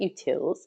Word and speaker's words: utils: The utils library, that's how we pronounce it, utils, is already pre-installed in R and always enabled for you.